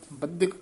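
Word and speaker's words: ਬਧਿਕ: बद्धिक कसके उच्चारण करना, साकत बद्धिक माया तारी।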